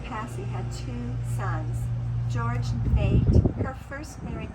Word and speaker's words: Neat: saying Nate but it's n-a-t-e or n-e-a-t yeah it's a little confusing yeah the original spelling was n-e-a-t so it looks like neat but it's pronounced Nate so George Nate and